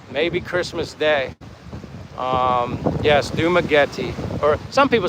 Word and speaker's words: Dumaguete: You mean Dumaguete? Dumaguete? Is that what you're saying? How do you pronounce the town?